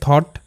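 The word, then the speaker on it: thought: যেমন সেই শব্দ হচ্ছে থট টি এইচ O Yuji ST থট। সো এখানে টিএইচ এর সাউন্ড হচ্ছে থ। আর ও ইউজি এসটি অট। তাহলে থ অট থট। ওকে?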